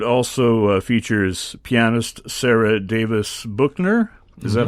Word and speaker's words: Buchner: This concert also features pianist Sarah Davis Buchner. Is that how you say your name? Buchner? I think Buchner. Buchner, Yeah. okay. Yeah. But not Bueller. Definitely not Bueller.